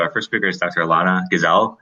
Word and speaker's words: Elana Gazal: first speaker is dr alana gazelle likes pronouncing that right yes you do thank you okay yeah